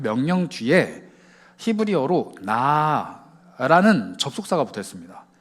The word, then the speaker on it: 나: 그 명령 뒤에 히브리어로 나라는 접속사가 붙어 있습니다. 발음이 그냥 나예요.